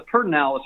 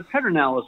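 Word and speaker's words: Pedernales: President Johnson, put an R in the middle, in that word, the Pertinalis River, instead of the Pedernalis River.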